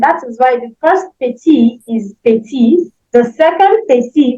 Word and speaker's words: petit: Then the last one, petit, won't also sound because we have a consonant at the end of it.